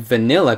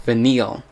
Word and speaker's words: Vanille: had one character named vanilla basically that's how they pronounce it in a Japanese version because I played I play the game with a Japanese audio they pronounce one character's name like vanilla it's spelled I believe